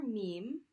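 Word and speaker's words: ميم: The letter Meme, its name is Meme. There we go. And the sound that it makes, of course, is the M sound.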